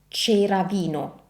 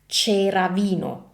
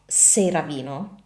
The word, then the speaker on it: Ceravino: This is correctly pronounced as cheravino. Cheravino. So it's not ceravino, it's cheravino.